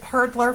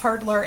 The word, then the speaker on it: Hurdlr: go over the general things that I used Hurdlr for to track.